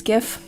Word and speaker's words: GIF: this this uh this gift I pronounce it gif cuz that's it's graphic interface it's it's G um so this GIF